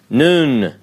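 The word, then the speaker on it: נ: apart medial form final form mem all right noon Hebrew letter noon you'll see that it also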